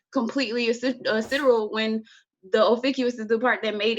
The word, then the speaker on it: Ophiuchus: And another thing too about astrologers that I've noticed about getting into sidereal astrology is some websites will have Ophiuchus. Oh, and yeah, that's how you pronounce it too.